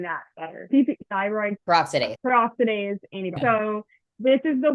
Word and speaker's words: peroxidase: is producing antibodies to fire paradoxides am I saying that right Paradox no peroxidase everybody has different ways